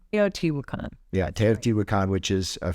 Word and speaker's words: Teotihuacan: Yeah, it was, I'm not sure how I pronounce it. Teotihuacan. Teotihuacan.